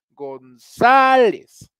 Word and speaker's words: González: deditos en la garganta González González muchachos esto es una palabra grave y de hecho lleva acento va a escribir no es esdrújula algunos vi que me